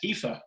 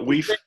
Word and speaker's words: Aoife: Yeah, it's Aoife. Aoife. I'm so glad it's not Weef.